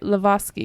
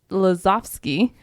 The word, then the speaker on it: Lazowski: Lazowski, because they're W's or V's, right?